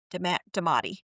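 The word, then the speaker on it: daemati: could have possibly been that how do you pronounce it again? What was it? Demati.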